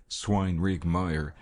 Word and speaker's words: Swinrigmeyer: The old farm of Swinrigmeyer, always pronounced locally in 3 words, Swinrigmeyer, had a curious history.